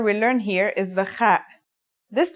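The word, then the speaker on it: خاء: The last letter we learn here is the kha. This letter, like the ha, has no English counterpart. Kha is a sound some people make when they laugh.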